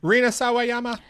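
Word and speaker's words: Rina Sawayama: Reena Sawyama.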